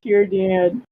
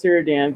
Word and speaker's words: Círdan: Círdan. I thought it was Círdan, but I guess it is Círdan. Because C's are pronounced with Son a K.